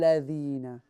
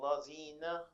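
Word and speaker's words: الذين: So the letter Dhal, the way you pronounce the letter Tha, your tongue, the tip of your tongue will come forward. Dhina, ladhina. Siratal lazina. No, say Dhal. No. Siratal lazina. That's better.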